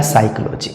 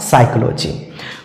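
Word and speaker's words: psychology: P silent है यहां पी के बाद एस आ रहा है तब भी पी साइलेंट होगा अर्थात यहां पर भी p को नहीं पढ़ा जाएगा और सीधा-सीधा इसका मतलब क्या हो जाएगा साइकोलॉजी इसका सही उच्चारण क्या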